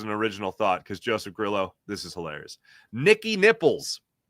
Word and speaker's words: Grillo: It is, in fact, Grillo, like the pickles, not Grillo.